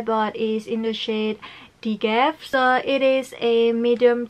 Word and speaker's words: DGAF: Colourpop Insta story and they pronounced this shade as Dgaf. So I basically just know that this shade is pronounced as Dgaf because before this I